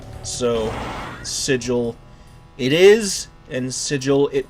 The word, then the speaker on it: Sigil: I've heard it pronounced Seagull and some other ways. I pronounce it the same way as you pronounce the word vigil. So, Sigil it is, and Sigil